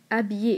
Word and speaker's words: habillé: Et dans le deuxième exemple, où habillé est encore une fois féminin, mais qui a un H muet, car nous disons l'habit.